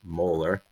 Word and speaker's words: molar: have a 1 molar that's how you pronounce it 1 molar just like the tooth 1 molar solution of hydrochloric acid